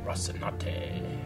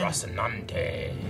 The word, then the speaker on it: Rocinante: Rocinante. Maybe it's a live rehearsal. Still don't say it right, Eric. You skipped the second end. Rocinante.